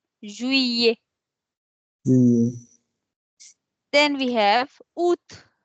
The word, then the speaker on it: Juillet: So instead of saying Juliet or something else, we say Juillet. We don't pronounce the L as L. We pronounce it as year. Juillet.